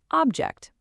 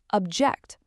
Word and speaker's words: object: If you put this stress on the first syllable, you get object. You know, a noun, a thing you can touch. But if you shift that stress to the second syllable, you get object, a verb, the action of disagreeing. Same spelling, different music, completely different word.